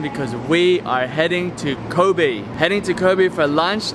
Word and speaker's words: Kobe: Now everyone calls it Kobe, like Kobe Bryant, but the real way to say it is Kobe.